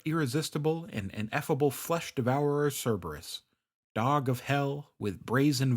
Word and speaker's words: Cerberus: famous Greek monsters like Cerberus or Karis as he sometimes pronounced and his 50 heads